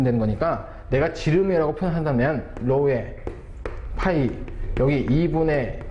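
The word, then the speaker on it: ρ: 그래서 얘를 다시 한번 적어보면 로우라고 읽어주시면 됩니다. 로우.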